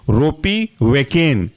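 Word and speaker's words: ropivacaine: यह कहलाएगा आपका बूपी वेकेन अगला एग्जांपल है रोपी वेकेन बूपी की जगह रोपी डाल देना है तो स्पेलिंग हो जाएगी आपकी रोपी आर ओ पी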